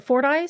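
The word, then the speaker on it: Fordyce: so sweet and the how do you say say for ice for ice yeah the Fort ice High School red bugs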